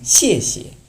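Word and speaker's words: 谢谢: ওকে, 9 নম্বর হচ্ছে শিয়ে শিয়ে। শিয়ে শিয়ে। শিয়ে মানে fourth tone, আর পরের শিয়াতে কোনো টোন নেই, এটা নিউট্রাল। সো আপনি শিয়ে শিয়ে, প্রথমটাতে শিয়ে একটু জোর দিয়ে বলবে শিয়ে শিয়ে মানে থ্যাংকস।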